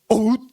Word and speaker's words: out: 그랬는데 거기서 웃 웃 오웃 오웃 이라니까요 아웃을 제제 보세요 그 영어 발음 오웃 이죠 자 보세요 아웃이 아니에요 자 오웃 이거예요 스트라이 오웃 이거 라니까